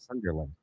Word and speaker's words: Sunderland: It's like the sun outside, Sunderland.